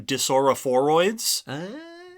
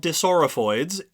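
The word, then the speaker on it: dissorophoids: Now, somewhere along the way in my notes, I accidentally wrote an extra syllable into that word. And then that just became the thing for the whole notes. So I called them disaurophoroids the whole time. Oh, gotcha. Okay. So they're called disaurophoids if you listen to that episode. And I mean, no, I doubt anyone was confused, because who knows that word. But that's not how you say that word.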